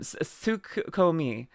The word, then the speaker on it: Tsukiyomi: Tsukiyomi.